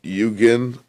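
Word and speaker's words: 幽玄: this japanese word called yugin i might i probably pronounce that i think it's pronounced like that okay y-u-g-n but uh basically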